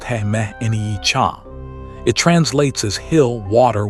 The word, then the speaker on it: He Mni Can: The oldest name for this place is He Mni Can, a Dakota name usually pronounced He Mni Can.